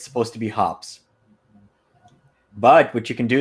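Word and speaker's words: Hoppe's: you pronounce hops number nine so I've always pronounced it hoppies but I know it's supposed to be hops but what you can do is you can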